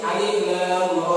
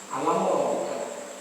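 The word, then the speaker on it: الر: Makanya alif lam ra ini dikatakan huruf maqtu'ah. Apa maqtu'ah? Yang terpotong-potong, yang masih bacanya terpisah. Bukan alam roh, bukan alam roh. Ini bacanya terpisah-pisah.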